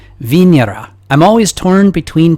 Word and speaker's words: Venera: without that American accent I think it's supposed to be pronounced vinera I'm always torn between